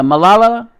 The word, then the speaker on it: Malala: More influential than, say, Malala. I don't know how to pronounce that. Yosai? Malala? Yeah, Malala.